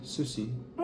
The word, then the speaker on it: sushi: Sushi. Pay attention to the stresses. Sushi. If you read the Japanese sentence stressing syllables as you would in English, it would sound like this.